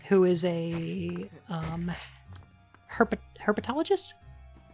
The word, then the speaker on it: herpetologist: their Uncle Monty who is a um her herpetologist how does how is it pronounced he's use snake person Bist perfect herpetologist yes I did it right I did it